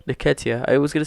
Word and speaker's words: Nketiah: How do you pronounce his last name? Nketiah.